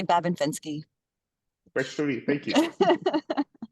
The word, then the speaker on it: Babin-Fenske: So the Babin is fine. It's Babin or Babin, and then Fenske is actually Fenske. Fenske. Anyway, so I say Babin-Fenske.